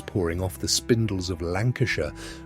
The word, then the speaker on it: Lancashire: Cotton was pouring off the spindles of Lancashire, pronounced Lan- coo- share, in lengths longer than any country in history had ever produced.